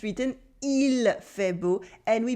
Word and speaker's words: il fait beau: But the L does become silent very often. So we mostly say il fait beau. We cut the final L in il.